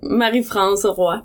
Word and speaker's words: Marie-France: How do you pronounce it in Canada? You'd say Marie-Francoise, but I don't care at all and don't expect anybody to say it.